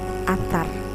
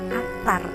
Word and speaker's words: Attar: kemudian diberi nama Muhammad Attar. Di mana Attar sendiri dalam bahasa Arab berarti harum. Namun karena masalah pelafalan masyarakat Indonesia saat itu, anak tersebut tidaklah dipanggil Attar, melainkan Atta, yang mana lama-lama kemudian